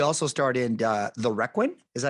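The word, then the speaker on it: Requin: And you also starred in uh the Reququin. Is that how you pronounce it?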